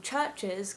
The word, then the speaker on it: Chvrches: them they've said that they were worried that although they loved the name churches because it sounded cool they thought people are gonna google it and get pictures of churches so they decided to spell it with the v so that just the